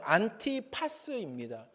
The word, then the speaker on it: 안티파스: 안디바를 원문으로 발음하면 안티파스입니다.